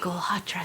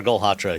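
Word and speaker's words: Galhotra: I'm like, oh God, how do I say his name? Golhatra. I only need to say it because Sam figured it out. He's like, Golhatra, say it many times.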